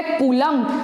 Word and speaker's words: Coulomb: इट is denoted by small Q और charge की ऐसा यूनिट होती है कूलम। कूलम स्पेलिंग है COULOMB, जो आप 10th में भी पढ़ के आ चुके हैं।